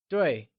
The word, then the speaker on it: 对: 对 is pronounced using a falling tone, like 对.